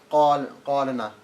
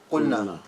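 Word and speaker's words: قلنا: You wouldn't say qalana or something, you're not going to say that. It's going to be qulna. Okay, so for this verb, that's how you say it, yeah?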